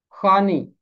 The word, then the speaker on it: خوانی: تعریف پڑھنا، تعریف کہنا۔ خوانی، اس کا تلفظ ہے خوانی، واو کی آواز خاموش رہے گی۔ فارسی زبان میں اس